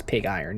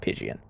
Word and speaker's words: Pig Iron: better than the Pidgeon it's definitely pig iron um for sure that's how that's pronounced is pig iron not Pidgeon but that's okay I